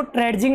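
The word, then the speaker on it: trudging: One dark evening as ही वॉज ट्रेजिंग, देखो ट्रेजिंग नहीं पढ़ना है, जी के पहले डी साइलेंट होता है।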